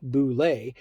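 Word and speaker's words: Bulette: The boule, pronounced boule, has only 2 semi-vulnerable spots.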